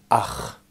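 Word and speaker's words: אח: Vous voyez, le mot frère se construit sur la racine aleph, chet, et se prononce ach.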